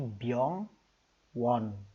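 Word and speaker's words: 병원: Nah, tetapi ketika dia ada di bawah, dia akan berbunyi NG. Contohnya rumah sakit. Rumah sakit ini bahasa Koreanya B Y O N G. Byong won. Nah, byong won. Cara pengucapannya begitu ya.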